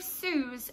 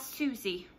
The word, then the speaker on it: Suze: different name so Susie's called Suze as you said II and has been called Suze since book 1 but in one of these audiobooks can't remember specifically which possibly Shopaholic and sister the narrator pronounces it as Suzy and it really bugged me because obviously I've read